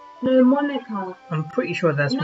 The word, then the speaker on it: Monika: Monika. Monique. No, Monika.